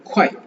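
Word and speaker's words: 快: ஸோ எக்ஸ்ஐஇ வர்றதுனால இது வந்து ஷியே, ஷியே, எக்ஸ்ஐஇ, ஷியே அப்படின்னு ப்ரொனவுன்ஸ் பண்ணும். இது வந்து சில, சிறிதளவு அப்படின்ற மாதிரி மீனிங்ல வரும். ஷியே, ஷியே, ஷியே. அடுத்து குவாய், குவாய், குவாய், குவாய், குவாய்.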